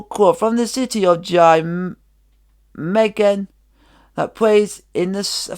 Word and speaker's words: Nijmegen: Is it if any of you Dutch subscribers out there could help me with the pronunciation of this, is it Jameggen? Is it Jameggen?